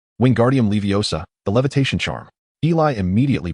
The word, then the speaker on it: Wingardium Leviosa: And your pronunciation is incorrect. It should be Wingardium Leviosa, not the garbled version you're attempting.